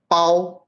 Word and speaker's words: Bao: Wen Hao say, Bao rhymes with Tao.